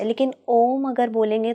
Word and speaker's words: ओम: बताइए मजे की बात जब आप ओम बोलोगे तो पूरे मुंह के अंदर जीभ छुए गी नहीं ओ जी इसलिए इसको पाप रहित बोलते हैं मतलब ओम एक ऐसा शब्द है कि जब आप उसका उच्चारण करेंगे तो आपकी जीभ कहीं भी टच नहीं करेगी लेकिन आप किसी भी